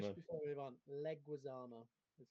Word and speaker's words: Leguizamo: before we move on, Leguizamo is how to pronounce it.